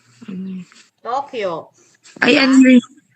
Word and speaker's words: Tokyo: long bowel ibig sabihin Hahabaan lang yung pronunciation kagaya nito Hindi niyo siya babasahin ng to u to ang basa to Kyo mahaba lang Tokyo Tokyo wa Tokyo yon then